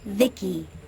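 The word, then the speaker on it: VICI: transistors by the way i'm the ici pronounced vicky my creator was vivisecto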